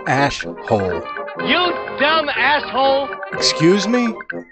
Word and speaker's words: Ash Holes: Pardon my French, but you're an asshole. It's pronounced ash-hole.